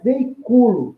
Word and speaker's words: veiculo: Olha lá, a sílaba tônica é penúltima, é uma paroxítona não acentuada.